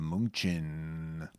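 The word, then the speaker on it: München: bit here we are heading to Munchen oh yeah that's Munich yes I think that's how they say it indeed um should we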